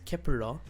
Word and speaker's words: 케플러: some of the performances the name kepler pronounced in korean as kepura which was also announced